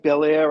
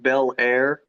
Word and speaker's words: Bellaire: Is that anything like Bellaire out in, where was it, California or anything? Kind of almost spelled the same, but it's Bellaire, one word, not Bel Air.